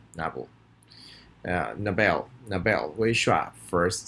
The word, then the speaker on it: Nobel: repeat after me novel where he shots second syllable novel Nobel the Bell whoosh whap first syllable right here